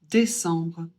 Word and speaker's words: décembre: Le E accent aigu toi être prononcé et le C, il est suivi d'un E. Donc, on va le prononcer E suivi d'un B. Vous commencez à avoir l'habitude, ça fait en et on prononce le B. Donc on dit décembre.